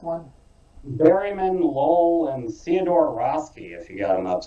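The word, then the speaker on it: Roethke: Berryman, Lowell, and Theodore Rothke, if you got him up there. It's pronounced Retke, Is it? Rothke. or I guess in German it'd be Retke.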